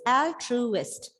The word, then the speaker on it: altruist: Yes, because here you can see 3 syllables, altruist. It can be either on first, second, or third. And here it is first.